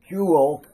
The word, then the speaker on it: Kuehl: It is a signature, and the guy's name was Kuehl. It is spelled K-U-E-H-L, one of the better clockmakers in Germany.